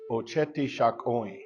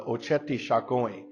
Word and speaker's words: Oceti Sakowin: And the term that we hear today that I would like to share is Oceti Sakowin.